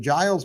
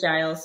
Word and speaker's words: Giles: Okay, my favorite Christmas tree stars Emma Johnson, and is it Giles Patton? I believe is the way you pronounce his first name. I don't think it's Giles. I think it's Giles. I think it is Giles.